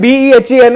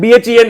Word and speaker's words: बहन: मतलब बहन BEHEN है BHEN नहीं है. नहीं है. नहीं बहन नहीं होता है.